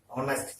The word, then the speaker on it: honest: not is not pronounced as fullness it is pronounced as honest here also h is sided now a foreign